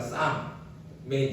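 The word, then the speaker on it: psalm: 이 프살모이가 우리 영어로 말하면 쌈의 이제 원래 단어를 말하는 거예요. 그러니까 프살모이 그러면 앞에 이제 P가 나오고 중간에 L이 나오거든요. 영어로 따지면 P-S-I-A-R-M 이게 나오는데 거기에 영어로 하면 P하고 L이 묵음이잖아요. 그래서 쌈 이게 이제 시편을 얘기하는 겁니다.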